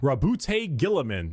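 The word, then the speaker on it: Roboute Guilliman: Rabbout Gillaman.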